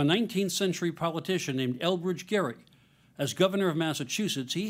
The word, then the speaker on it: Gerry: to notice that the Jerry in gerrymander refers to a guy whose name was actually pronounced Gary because literally everything about